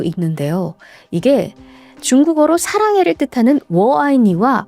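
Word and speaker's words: 我爱你: 이게 중국어로 사랑해를 뜻하는 워아이니와 발음이 비슷해요.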